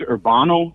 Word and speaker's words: Urbano: Okay, so my name's Urbano, like urban with an O at the end.